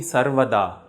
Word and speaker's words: Sarvada: Only Sarvada at the end has a long A sound.